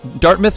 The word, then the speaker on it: Dartmouth: doubt he's from Dartmouth Dartmouth Nova Scotia let's say you say it right Dartmouth yeah you got it you go I said dart melt at first but then I realized that's not corrects hey close enough